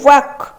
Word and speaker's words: walk: D रे अच्छी K ताने वाक वाक आमर साइलेंट रोचे कोटा L रोचे साइलेंट आम पढ़ी ताले ऑप्शन C हो करेक्ट आंसर।